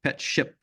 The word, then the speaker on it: PetShip: Yeah, by the way, that is PetShip with a P. PetShip, different company if you don't pronounce it right.